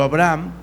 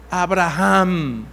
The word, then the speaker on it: Abraham: Ya no va a ser tu nombre Abraham, sino que será tu nombre Abraham. El H o la letra H en el hebreo se pronuncia como una J suave.